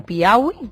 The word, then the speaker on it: Piauí: Todo el equipo, he leído hace poco que explotó un ovni en Brasil, en Piauí, no sé si lo he pronunciado bien, ¿sabéis algo más? Piauí, sí, eh conozco la historia, eh porque he